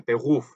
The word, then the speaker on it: Beruf: 근데 사실은 Beruf인데 Beruf, 루 해서 목 안이 뭐랄까 떨리는 것 같은 Beruf 이런 소리가 이런 소리가 목 안에서 나는 소리입니다.